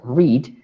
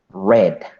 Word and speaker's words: read: Ya no se pronuncia read, sino que se pronuncia como el color rojo. Red.